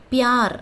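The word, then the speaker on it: प्यार: பியார் அப்படின்னு ஹிந்தியில் சொல்லணும். இப் யா இர், பியார், அன்பு, பியார். லல்ல, குட், அச்சா, ஆ இச்சா, அச்சா, லல்ல, குட், அச்சா.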